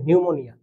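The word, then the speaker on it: pneumonia: নিউমোনিয়া বানান কিন্তু এরকম দেখো পি এন ই ইউ এম ও এন আই এ নিউমোনিয়া তো এখানে দেখো আমি কিন্তু পি সাইন মানে ওয়ার্ড লেটারটাকে উচ্চারণ করছি না তো এরকম আরো অনেক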